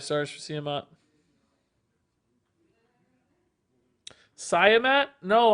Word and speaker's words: Siamat: Siamat? No, I actually asked Mike today how to say it, and he told us Siamat.